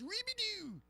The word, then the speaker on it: Robidoux: But somebody told me that Carol's last name technically it's pronounced Ribidou. Ribidou. That is the French from Normandy.